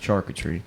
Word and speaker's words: charcuterie: Max struggle. I struggle with Max. Charcuterie. It's pronounced charcuterie. I tell you what, That's fun.